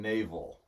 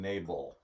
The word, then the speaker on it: Nabal: By the way, he's not saying navel. He's saying Nabal.